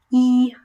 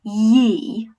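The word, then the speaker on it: 一: So number 1 is pronounced yi, yi, yi. So the closest English pronunciation we have, I would say, is in the name Saeed.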